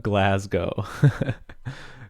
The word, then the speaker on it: Glasgow: of paid calls but from Glasgow nice Glasgow Glasgow Glasgow yeah okay yep thanks for the help always always appreciate helpful pronunciation tips in in the jet great so